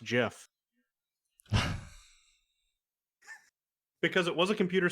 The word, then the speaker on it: GIF: feel to know that one of your fellow computer scientists said it's pronounced jif because it was a